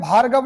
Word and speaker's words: भार्गव: कई बार बोलते हैं भार्गव नाम है किसी का तो उसको भागव बोल देते हैं।